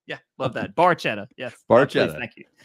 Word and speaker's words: Barchetta: Extra charchetta. Yeah, love that. Barchetta.